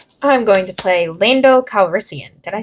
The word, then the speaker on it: Lando Calrissian: I'm going to play Lando Calrissian.